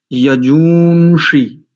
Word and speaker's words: यजूᳫंषि: तो देखो यहां पर ग्वांग है और इस ग्वांग का उच्चारण नकार के समान हो रहा है।